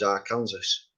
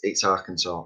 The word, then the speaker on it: Arkansas: it's the arkansas woodcutter i always thought it was our kansas now i've heard of arkansas i thought that was somewhere different so it's arkansas and i've learned lots